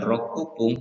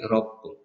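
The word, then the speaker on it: ろっぷん: Kemudian 6 bukan rokupung tapi ropung.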